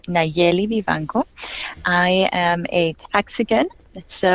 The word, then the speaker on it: Nayeli Vivanco: you drew um you did a fine job pronouncing my name but I I'll say it again there it's neli Viano I am a Texican so I was born